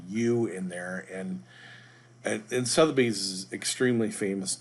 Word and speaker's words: Sotheby's: so today we're using Sotheby's real estate international realty site and I have to apologize I don't know why in the previous video I kept mispronouncing I kept calling it South B's I guess you could